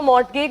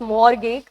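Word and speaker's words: mortgage: इसको मोगेग मत बोलिएगा। इट्स मोर्गे। मोर्गे का मतलब है वो जो लोन मतलब जो आप लेट्स से आप एक बिल्डिंग लेने जा रहे हैं।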